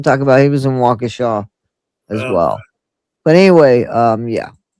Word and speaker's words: Waukesha: And it's Waukesha. Is that how you pronounce that? Yeah, Waukesha? Waukesha County Sheriff.